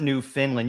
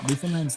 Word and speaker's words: Newfoundland: It's not New Finland. You thought it was Finland. These animals have started to look different from those on the mainland. Instead of hunting snowshoe hairs, Newfoundland's lyns hunt caribou.